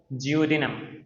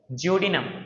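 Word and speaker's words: duodenum: सबसे पहले तो जडिनम ये डी है डी लेकिन हम इसको प्रोनाउंस किस तरह से करेंगे? जे ठीक है? जरा चेक करो। जडिनम जडिनम। ठीक है? इसको हमने इस तरह से प्रोनाउंस करना है।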